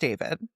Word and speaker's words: D4vd: Now, his name is David, pronounced David, but it's spelled D4vd.